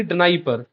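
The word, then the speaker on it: Dnieper: अब एक्चुअल में इसका प्रोनाउंसिएशन होता है नाइपर रिवर, या फिर निपियर रिवर भी कोई कोई प्रोनाउंसिएट करता है, बट मैं इसको डनाइपर ही बोलता हूँ।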